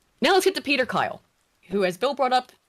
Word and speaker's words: Kyle: Now, let's get to Peter Kyle, who as Bill brought up, his name rhymes with pedophile.